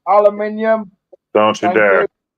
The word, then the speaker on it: aluminium: Hollow aluminum, fellas. Yep. Diamond plate aluminum. Jesse, it's pronounced aluminium.